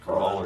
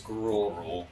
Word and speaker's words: Gruul: Crawl or drool. It's gruel. Gruul.